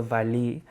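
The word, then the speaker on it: valiha: earlier it's called the valley it's v a l i h a um the a the h a at the end you don't pronounce which is valid and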